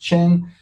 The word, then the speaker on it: Chen: My profile is always there, Liav Chen, it's pronounced Chen.